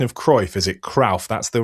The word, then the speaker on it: Cruyff: Is it Cruyff? That's the right way to say it. Yeah, right. It's got the same sounding as Dirk Kuyt. So you say Kuyt, you say Cruyff.